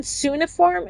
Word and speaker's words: cuneiform: Earliest records, Babylonian cuneiform. Is it cuneiform?